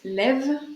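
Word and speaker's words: לב: 32, il faut savoir que c'est la valeur numérique du mot leb en hébreu qui se prononce lève.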